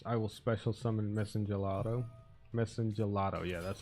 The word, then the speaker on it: Messengelato: And this one I will special summon Messengelo or whatever. That will let me bring out my Salon. And my Salon will allow me to bring out two monsters. I will special summon Messengelato. Messengelato, yeah, that's how you say it.